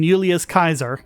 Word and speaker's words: Julius Caesar: hi sorry well yeah if you're gonna do the proper latin pronunciation yulia's kaiser just sorry I get a